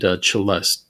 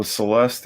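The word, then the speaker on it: celesta: think you have sorry how do you say you say chelest chelest chelest is that the yeah the instrument oh Celeste yeah yeah I think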